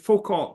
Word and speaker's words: Foucault: One of the leaders of French colonialism, a man named Foucault. Is that how his name is pronounced, Carmen Louise?